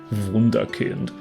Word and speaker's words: wunderkind: you know liam o'brien would be able to pronounce perfectly with his german accent wunderkind and that's like like a complete miraculous prodigy